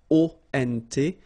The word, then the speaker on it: ont: And then the ending for il, elle will be ont. You don't pronounce the final t, so you get the nasal on.